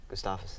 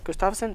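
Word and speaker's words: Gustafsson: to me how do you say to me Gustavus yeah Gustafson bro he looked he looked kind of scared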